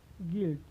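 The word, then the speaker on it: guilt: देखते हैं कि उसका उच्चारण नहीं होता है, उच्चारण नहीं होता। जैसे कार्ड, टेस्ट, गिल्ट।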